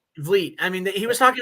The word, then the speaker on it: Van Vliet: Yeah, Chris Van Vliet. Vliet.